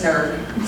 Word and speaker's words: SNRG: We have another funny one too, which is Synergy, but it is always pronounced SNRG, so those can go wrong.